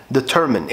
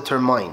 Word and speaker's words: determine: اول كلمه معانا النهارده اللي هي determine. احنا كبرنا كده بننطقها determine، يعني احنا كان عندنا المايند سيت كده اللي هو بيقول لك لو في اي وقبلها بعد كده حرف كونسونانت بعد كده حرف whatever كان